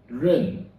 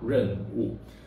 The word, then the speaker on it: Renwu: In our example, it is We will pronounce the moon pillar as Renwu. This is how we pronounce Renwu.